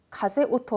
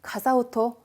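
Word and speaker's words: 風音: 디번에 바람소리 가세오토 하실 것 같지만은 또 자가돼요. 네. 가사오토 하면은 바람 소리가 되겠습니다.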